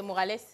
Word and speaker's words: Morales: Déjà, j'ai bien prononcé, c'est Morales.